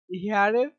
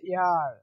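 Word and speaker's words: heir: এখানে কিন্তু হেয়ার হয় না, এর উচ্চারণ মেইনলি হয় হচ্ছে ইয়ার। কি? ইয়ার। ইয়ার হয় এর উচ্চারণটা, কিন্তু অনেকে বলে হেয়ার, নো, ইয়ার।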